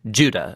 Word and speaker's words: Judah: the letter of jude or more accurately judah according to the pronunciation of his name both in greek and in hebrew judah was one of